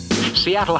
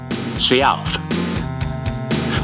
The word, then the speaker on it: Sealth: Seattle, however, was a mispronunciation of the chief's real name, Sealth.